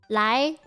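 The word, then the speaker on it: 利: You have to pronounce lai, like lai. Lai is a very weird sound, I think, for a lot of Anglophones. It's not a normal sound to make for English people.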